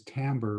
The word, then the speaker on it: timbre: might call it timbre it's spelled timber and most physicists pronounce it as timber but i've found that most musicians for whatever strange reason they they look at this word and they pronounce it as timbre rather than timber so aurora you're the